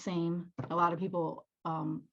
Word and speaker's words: SAM: is um it's a it's a play on the phonetic spelling of the word same so it just it's pronounced same a lot of people